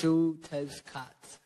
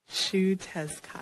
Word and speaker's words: Xiuhtezcatl: So it's pronounced Xiuhtezcatl. Okay. Xiuhtezcatl. Yes. Let's say it one more time. Like that. Xiuhtezcatl.